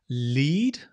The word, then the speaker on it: lead: So notice the pronunciation change. I lead you, but my boss led us to victory in the past.